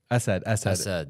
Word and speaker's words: Assad: Well, get the pronunciation right, bro. Assad. It's Assad. Pronounced Assad. It's literally impossible for Americans to say the eh sound.